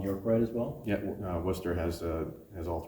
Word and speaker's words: Worcester: and that's, I'm sorry, I'm pronouncing that completely Everybody, Worcester is usually the So how's it pronounced again? Worcester. Worcester, okay.